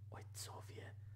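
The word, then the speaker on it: ojcowie: Ойцовье. I was wrong. I was kind of pronouncing like the word fruits.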